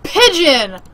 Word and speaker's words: Pigeon: the pokemon center quick fidgeon okay hold on i need to check this link oh pigeon what the i was pronouncing it wrong because i thought it